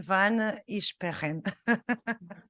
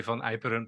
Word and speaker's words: van Iperen: So I just give the floor to van Isperen. Thank you very much and well pronounced my name. It's, in the Netherlands we say Van Iperen, but Van Isperen sounds nice as well.